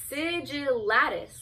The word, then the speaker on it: sigillatis: But no, it's sigillatis. Like the T is after, it's like, it's after the L's.